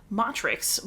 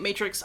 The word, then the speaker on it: Matrix: record a review of motrix by lauren groff i'm pretty sure most people are pronouncing it matrix i'm a latin teacher you're just gonna bear